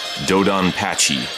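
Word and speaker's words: DoDonPachi: Dan makaku challenge yes dodan Pachi is how you pronounce it if you're not using a Japanese accent if you like Ryden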